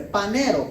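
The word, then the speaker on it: φανερόω: valero parece que dice panero pero se escribe ph y en el ph se pronuncia panero ok que éste sí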